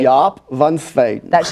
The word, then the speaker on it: Jaap van Zweden: So Jaap van Zweden. Zweden. Okay. Jaap van Zweden.